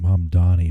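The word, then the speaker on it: Mamdani: Um I think his I think he pronounces his name Mum Donnie, but a lot of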